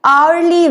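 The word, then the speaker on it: hourly: Third example है एन आवरली visit. N आवरली visit. तो शुरू ये भी एच से होता है लेकिन एच यहां पे भी साइलेंट है। और किस चीज की साउंड आ रही है? ओ की।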